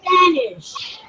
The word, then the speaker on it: Spanish: Spanish. Spanish. Spanish. Spanish. Spanish. Spanish. Spanish. Girls, remember that Spain and Spanish don't have an E at the beginning, only the S. So we only pronounce the S.